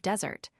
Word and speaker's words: Desert: The accentuation should not fall on the last but on the first syllable of desert.